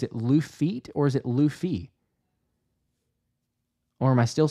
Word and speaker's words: Luffy: Okay, so say the Lou part. Okay, like Lululemon. Okay, so Lou and then the F is feet with the T. Luffy?